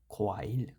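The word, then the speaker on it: 과일: আমরা একটু আগে কী পড়ছিলাম, আপনার খগিউকের সাথে ওয়া যোগ হলে হবে খোয়া। এখানে যেহেতু ইয়ং মাঝখানে সাইলেন্ট থাকে, উচ্চারণ হবে না। সাথে আছে ই, তাহলে কোয়া ই। নিচে রিউলার সাথে উচ্চারণ হয়েছে লয়ের মতো, খোয়াইল। খোয়াইল মানে হচ্ছে ফল।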